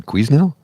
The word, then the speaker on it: Quesnel: can you tell me how to get to Canal? It's like, oh, you're not from here, are you? Quesnel. Canal. What? What's that? You mean Quesnel?